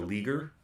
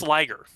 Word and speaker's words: liger: kind of keep the episode lean like a leaguer. Oh, I like that. But it's pronounced Liger.